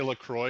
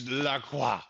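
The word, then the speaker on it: La Croix: People usually say Lacroy because that's how it's written, but my nephew who speaks French always is like, "No, no, no. It's Laqua."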